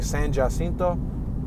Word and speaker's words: San Jacinto: We're approaching San Jacinto. It's spelled Jacinto.